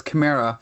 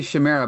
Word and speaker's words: chimera: Well, I I believe it's Chimera. I I probably used to say Chimera, but it's Chimera, right, Adam? Yeah, it should have that harder consonant sound. So, it should be chimera from what I understand.